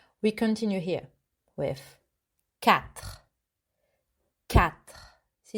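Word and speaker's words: quatre: continue here with cat cat see it's like a cat meow but you hear the at the end again in french very good next one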